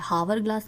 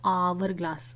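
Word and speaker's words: hourglass: बी में आवर ग्लास हम एच जो है वो साइलेंट है हावर ग्लास नहीं है this is आवर ग्लास okay तो आपको किसका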